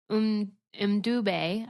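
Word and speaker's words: Mbube: And they had done a bunch of them, and then with the Weemaway, but they called it Umdube, I believe is how they pronounced it, Umdube instead of Weemaway.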